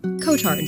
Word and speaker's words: Cotard: Maybe I can shed a little bit of light on you for Kotard syndrome. And that is how Google told me to pronounce it. I would I would call it codard syndrome, but I I believe it's codards.